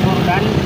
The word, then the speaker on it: Jordan: Anong ibig sabiin Ah yung pronunciation niya po ma'am is gordan kinuha po yung pangalan ng sa gordan river dah yung pat po